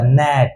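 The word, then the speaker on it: gnat: एन ए टी है तो देखो तो जी के बगल में कौन है एन है तो जी अपना आवाज लेगा नहीं लेगा जी क्या हो जाएगा साइलेंट एकदम चुपचाप तो जी गया चुपचाप हो गया एन बच गया ए बच गया टी तो ये क्या बन जाएगा नेट ये क्या बन जाएगा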